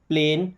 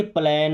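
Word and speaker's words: plane: अब ध्यान क्या रखना था कि जहाँ AI आ रहा है उसका उच्चारण एक ही मात्रा, जैसे प्लेन, मेन, गेन। ऐसा नहीं कि प्लेन, मैन, गैन, ऐसा नहीं है।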